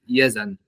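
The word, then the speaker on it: Yazan: so uh let's about my name yzan it's pronounced as yzan okay so actually it's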